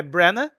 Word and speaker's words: Branagh: A Luísa comentou que a pronúncia do Kenneth, do sobrenome é Branagh, é Kenneth Branagh.